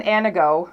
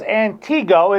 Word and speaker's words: Antigo: Not pronounced Antigo, as I found out when I first moved there. Yes, it's Anago, Wisconsin.